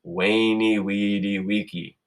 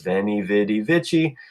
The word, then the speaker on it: veni vidi vici: a what sound so this over here is weyni wedi vici sometimes you hear people in english pronounce that is veni vidi vici but that violates all the rules that we've already just talked about so the ooh when it's a consonant makes sleep whoop sound wainy you've also heard